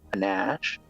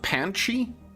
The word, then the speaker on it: panache: So now she's got panache. Nice. So she will attack with panache on him. I think it's pronounced Panchi. No, I'm Panache.